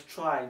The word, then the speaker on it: trie: about this tri actually it's pronounced as try not tree try okay try because